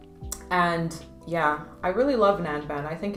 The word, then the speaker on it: Nanban: Now the next fragrance that we have rhymes with Gangnam, and it is called Nanban by Arquiste.